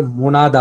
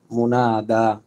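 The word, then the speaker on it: منادى: করা হয়েছে ওই ব্যক্তিকে মুনাদা বলে। মুনাদা, মিম নুন দাল আলিফ হামজা, মুনা, মুনাদা, এই না হামজা নাই, মুনাদা দাল আলিফ হবে, মুনাদা, মুনাদা, মুনা, নাতে টান আছে কিন্তু, মিম নুন আলিফ দাল আলিফ, মুনাদা।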